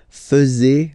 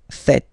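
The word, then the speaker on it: faites: tend to to say fuzzy okay but then no no no no it's fat fat okay so remember a final s here is not pronounced and then this is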